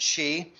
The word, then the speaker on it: Xi: the visit by president xi uh that's how you pronounce x eyes like he she it she president xi um and and it